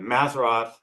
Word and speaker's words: Mazzaroth: The Mazzaroth, um in Hebrew, the pronunciation's actually without the H, so it would be Mazzarot.